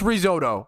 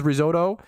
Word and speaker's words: risotto: just say the word about pronouncing this with the typical Italian pronunciation stop like the Italians